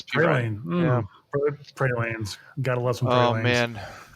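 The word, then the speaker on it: Perine: I keep wanting to pronounce it Praline, but I know it's Pirine.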